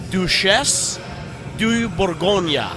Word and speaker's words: Duchesse de Bourgogne: the beer actually so I've been told by people that know that it's do chefs do you Bourgogne better than i would